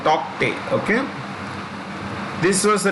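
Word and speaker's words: Tauktae: The K is silent. Tokte.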